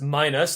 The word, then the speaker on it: Minos: For whatever reason, it's pronounced Minos, like minus, like less or whatever.